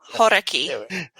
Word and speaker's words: Hauraki: Hauraki. Hauraki. I always pronounce it terribly.